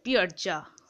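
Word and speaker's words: piazza: একটা central পিয়াজা একটা Italian form ঠিক আছে পিয়ারজা উচ্চারণটা হচ্ছে পি আই A double Z এ ঠিক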